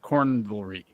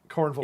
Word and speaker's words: Cornvelry: For reference, it's supposed to be pronounced Cornvelry. Cornvelry. Yeah, like cavalry. Yeah. But corn.